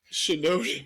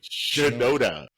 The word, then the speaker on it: Shinoda: Shinoda. Shinoda.